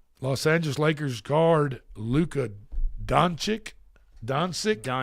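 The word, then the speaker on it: Dončić: Los Angeles Lakers guard Luca Donic. Dansik Donuch.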